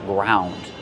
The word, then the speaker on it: ground: In the past, ground. I ground the pepper with a pepper mill. How do we pronounce it? Ground. Use the ow sound like around and about.